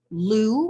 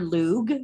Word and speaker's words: Lugh: this is named for the Irish God Lou or lug it's pronounced both ways uh this is a